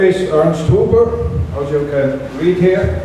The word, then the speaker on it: Huber: My name is Ernst Huber. As you can read here, it's pronounced Huber, not Hopper. A lot of people call me Hopper. I said no, it's called Huber, okay?